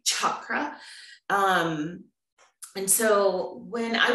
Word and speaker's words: chakra: of people pronounce it chakra i think in sanskrit it's actually harder like a chicken like chakra um and so when